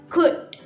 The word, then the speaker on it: could: Nah, jangan terlalu ditekankan di bagian LO-nya, could you, nggak usah, tapi dibacanya could. Nah, dan would pun dibacanya would saja, would you dan could you.